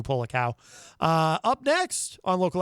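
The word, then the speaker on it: Polakow: for that track online i should probably spell uh pull a cow for you p-o-l-a-k-o-w andrew pollock cow uh up next on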